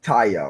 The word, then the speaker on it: Taya: Oh, it's Taya. Okay, Taya. I say it right to say Tyra or Ty.